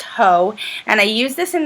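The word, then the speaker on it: Haux: this is max ho it's h e a UX pronounced ho and I use this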